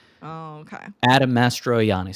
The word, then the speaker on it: Mastroianni: Oh no, there's no L. It's Adam Mastroianni. Oh, okay. Adam Mastroianni.